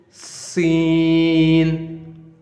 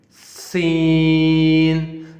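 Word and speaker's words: سين: Then next letter is Sin, Sin. This is how you make this letter sound, Sin. And English, if we compare this letter with English letter, we can say that it sounds like S. S. As for sparrow.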